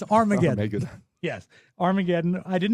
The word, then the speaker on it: Armageddon: He produced he said this movie was called Argodon, but it's Armageddon.